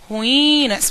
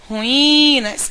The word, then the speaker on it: ruínas: vão ter que aprender aprender a pronunciar o termo ruínas pronuncia com carinho tá ruínas eu tenho que Identificar qual é a sílaba mais prolongada em ruínas o i